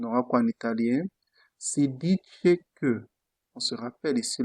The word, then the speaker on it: dice: Si dice que. On se rappelle ici là que le C devant E se prononce che.